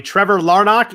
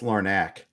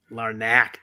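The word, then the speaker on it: Larnach: called up am i i did say it right or no close i had to look it up for the xm show today it's lauren ack larnack dammit um so obviously he's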